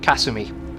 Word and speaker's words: Kasumi: her name wrong uh they don't put emphasis on like different syllables so it would be Kasumi if anything but [